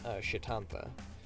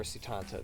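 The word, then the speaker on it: Setanta: And the child's name, they name him Shitantha, or Sitanta, depending on how you want to pronounce it.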